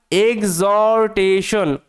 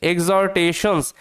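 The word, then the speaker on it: exhortations: ধারা হিজ মানে তার এক্সরটেশন উচ্চারণটা ভালোমতো দেখবে এখানে এইচ টা সাইলেন্ট থাকে এক্স টেনশন তার সাথে এস আছে এক্সটেশনস এক্সটেশনস কথার অর্থ হচ্ছে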